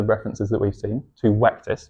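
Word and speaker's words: Vectis: From Ictin, in the references that we've seen, to Wectis. You've got to remember that V's in Roman were pronounced as W's.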